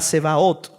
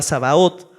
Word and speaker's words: Sebaot: En el hebreo, mis hermanos, Jehová de los ejércitos significa Jehová Sebaot. Algunos lo pronuncian como Jehová Sabaot, otros tienen alguna pronunciación.